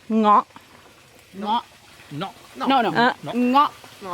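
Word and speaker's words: เงาะ: In Thai we call ngok. Ngọ. No. No, no. Ngọ. Ngok. Ngọ, yeah. Ngok. Okay. Italian pass. American ngok.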